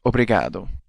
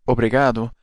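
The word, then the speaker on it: obrigado: long way the phrase we'll learn today is obado in Portuguese obado means thank you let's hear that a little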